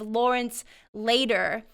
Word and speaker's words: Lawrence Lader: mentioned, but a man by the name of Lawrence Lader. Am I pronouncing that correctly?